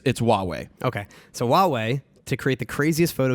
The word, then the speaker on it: Huawei: I don't even want to pronounce it. It's Huawei.